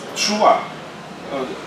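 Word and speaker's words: תשובה: Тшува. Тшува. Произносится так, тшува.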